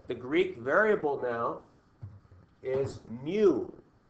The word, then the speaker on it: mu: So the Greek variable now is mu. Like rhymes with new, but it's mu.